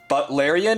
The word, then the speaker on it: Butlerian: Butlerian, it's like butler, like someone who is a butler. It's spelled like that.